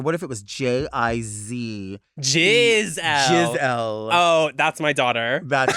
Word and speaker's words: Giselle: Gazelle's a sickening drag name. It is. But what about if somebody's name was Giselle and they mispronounced it as Gazelle?